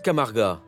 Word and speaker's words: Camarga: lève sur la Camargue en ocitant cela se prononce camarga un marécage de 140000